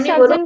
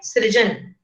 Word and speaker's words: सृजन: Ma'am, इसमें मौलिक सर्जन का मीनिंग क्या है? मैम, मौलिक सर्जन का मीनिंग क्या है? क्वेश्चन, पहली बात उच्चारण सही करेंगे, मौलिक सृजन।